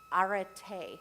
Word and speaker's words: arete: right, so help me, arete. Arete? Am I pronouncing it right? It's A-R-E-T-E with a little thing over the E.